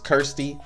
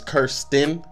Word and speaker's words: Kirsten: I guess I've been saying her name is Kirsty and it's Kirsten.